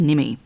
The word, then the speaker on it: NMI: In the top left-hand corner, you should be able to see the NMI, pronounced NIMI.